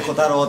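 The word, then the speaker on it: キツネ太郎: と書いてコタロウって読みます、結構読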